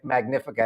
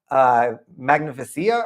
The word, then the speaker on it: Magnifica: that I was pronouncing Magnifica. I was calling it what was I even calling it? Can I say it now? Magnificia or something like that.